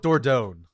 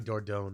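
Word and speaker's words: Dordogne: attempt to pronounce it I'm going with dordone I think you're correct it is spelled d-o-r-d-o-g-n-e it is a real life City or not you can see I think it's like a small village in the countryside of France which is oh yeah then it's Gotta Be door down right that sounds French I've only heard it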